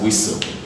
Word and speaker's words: whistle: new each ISD help me this word is pronounced as whistle whistle all right realize that the S is